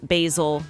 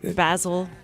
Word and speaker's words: Basil: Basil is probably how they would pronounce it. Basil, as in like Basil Rathbone.